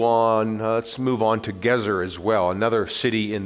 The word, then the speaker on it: Gezer: well gezer my mom used to call it geezer i go no mom then she would say oh that's what i am i'm an old geezer i go no mom wrong again it's pronounced gezer and it was excavated 100 years ago by